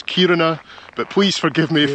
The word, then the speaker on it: Kiruna: Now, I think I've been saying it wrong. I've been calling it Kiruna, but the stress should be at the start of the word, so it's Kiruna.